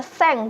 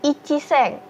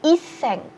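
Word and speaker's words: 千: Untuk angka 1000 itu kita cukup baca seng, bukan ichi seng. Atau mungkin ada juga yang menyebutkan iseng.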